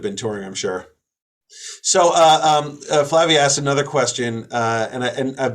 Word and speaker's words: Flavia: So Flavia asked another question, and I've been told now that I am pronouncing it correctly.